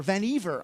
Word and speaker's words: Vannevar: of World War Two Vannevar bush or van eevr I found out is how you say it Vannevar bush wrote this